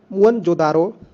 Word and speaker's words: मोहनजोदड़ो: इनमें से 2 नगर बहुत ही महत्वपूर्ण है, पंजाब का हड़प्पा तथा सिंध का मोहनजोदड़ो। मूल उच्चारण मुअनजोदारो, शाब्दिक अर्थ प्रेतों का टीला या मुर्दों का टीला भी बोला जाता है इसको।